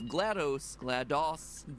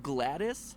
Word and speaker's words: GLaDOS: There's an unused voice line of GLaDOS actually saying her name, and that's the way she pronounces it. As far as how you pronounce GLaDOS, Gladys, apparently is a viable option. No, GLaDOS.